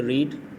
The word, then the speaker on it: read: जो first form है उसको हम बोलेंगे रीड, सेकंड फॉर्म है उसको हम बोलेंगे रेड, थर्ड फॉर्म है उसको भी क्या बोलेंगे, रेड, रीड, रेड, रेड।